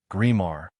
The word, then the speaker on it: Grimard: Mr. Grimard, pronounced Grimard, A little old man with a sad and kindly look insinuated, "Pardon, Monsieur Mayor, but what should I do?"